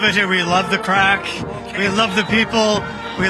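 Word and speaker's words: craic: They're enjoying the crack. And we'd like to remind our American friends that's spelled c r a i c means fun.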